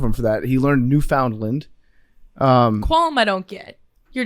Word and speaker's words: Newfoundland: Also, you said Newfoundland. It's Newfoundland.